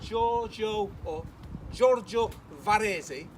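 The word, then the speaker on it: Giorgio Vasari: This is what a commentator, a guy called Giorgio Varese, saying it correctly there for my Italian friends over there, he said this.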